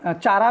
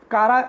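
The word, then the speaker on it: Chara: दूसरा डायग्राम आपका है कारा, कुछ चारा भी बोलते हैं बट कारा एक्चुअल में इसका प्रोनाउंसिएशन है कारा, एंड स्पायरोगैरा।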